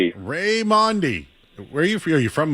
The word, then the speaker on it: Raimondi: Say your name again. Ray I keep saying it wrong. You're fine. Raymond. Ray Mandi.